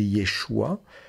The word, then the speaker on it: Yeshua: Jésus y ait choix on peut prononcer Yeshua puisque le Chine ça